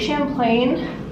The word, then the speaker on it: Champlain: that same vibe it's very cute also lake champlain finally pronouncing it right thank you very much it